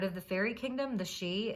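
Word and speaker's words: sidhe: the um part of the fairy kingdom the she it's spelled s-i-d-h-e they're like the royalty of the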